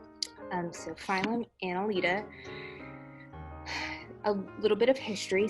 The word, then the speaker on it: Annelida: is our new phylum it's phylum analeta um it also can be pronounced aneleda i like analita um so phylum analeta a little bit of